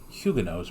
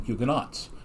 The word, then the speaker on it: Huguenots: in the united states i've never heard the french protestants pronounced huguenots before it's always just been huguenots so it's interesting to hear the the different pronunciation of that yeah um now what